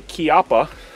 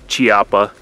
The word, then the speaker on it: Chiappa: This is a Chiappa. And that is how you pronounce that, guys, not Chiappa.